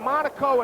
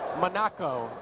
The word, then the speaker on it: Monaco: I mean, they just blew a hole in there with Potter, Agent, Monaco, and Gobert. Wow. I want to say that the right guard is Joe Monaco, not Monaco, because his parents let